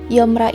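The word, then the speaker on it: 염라: Yeomra is the pronunciation of Yama in Korean.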